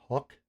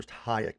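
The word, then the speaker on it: Huyck: I've also heard it pronounced Hook or Hayek. I prefer Hayek because it is H Yu C. Hayek. Okay. So I will pronounce it Hayek.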